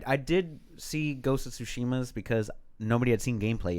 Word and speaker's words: Tsushima: Apparently the Japanese don't use Tsushima. It's all the same sound on the syllables. It's all Tsushima. Not kind of like accents where you kind of stretch something out.